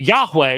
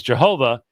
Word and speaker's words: Yahweh: that you might know that Yahweh which they mispronounce as Jehovah yeah he is Elohim